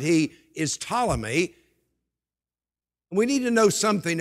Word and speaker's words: Ptolemy: by the name of ptolemy the name begins with the p but the p is silent he is ptolemy we need to know